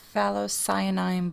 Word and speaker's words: Phthalocyanine: Is in the color Phthalocyanine Blue. I had to look up how to pronounce that.